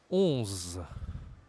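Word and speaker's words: onze: 11. 11. Comme le 1, tu dois utiliser ton nez. C'est ce qu'on appelle en français une voyelle nasale.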